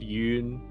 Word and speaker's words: Yun: Matt hey I'm Matt I played Yun tonight rhymes with moon um you can find